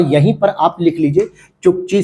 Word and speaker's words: Chukchi: और इसके बाद आपको और पूरब में अगर आप जाओगे तो आप देखोगे चुक्ची सी, चुक्ची सी लिखा होगा, एक छोटा सा लिखा होता है।